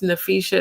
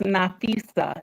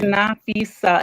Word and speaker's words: Nafisa: rude but it's pronounced nafisa it's it's not with a sh got it's nafisa it means precious okay